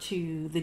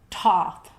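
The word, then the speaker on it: Thoth: of chahuti they referred to the deity as toth or you might hear tauth or thought with all of these you're going to hear these things pronounced differently i don't speak ancient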